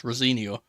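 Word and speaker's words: Rosenior: No, see, he's specifically come out and told us how to pronounce it. So I have like a preference of how to say it now, or like a reference rather to how to say it. So it's Rosinia.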